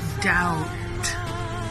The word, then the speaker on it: doubt: Bukannya dop, dap, dep, dup, tetapi doubt. Tak payah B tu.